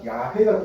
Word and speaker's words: 야훼: 이응자로 하는데 이게 예호와인데 사실은 이게 독일어 신학이기 때문에 예호와지만 원래 발음적으로 더 정확한 거는 야훼가 더 맞아요.